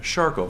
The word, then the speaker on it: Charcot: some of you may have heard about shof foot uh which is spelled CH h a CO o t it